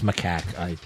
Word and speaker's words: macaque: Sorry, it's macaque. I mispronounced it, trying to correct your mispronunciation.